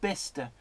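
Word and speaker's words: Bicester: a million years you would guess the correct pronunciation. I like Bister.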